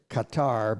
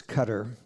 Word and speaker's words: Qatar: the Persian Gulf and you'd pronounce it Qatar but it's cutter and the International Community